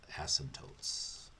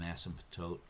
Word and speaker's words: asymptote: going to call vertical asymptotes okay that's when the denominator equals zero and what's an asymptote asymptote i have to put that p in when i go to spell it it's when the line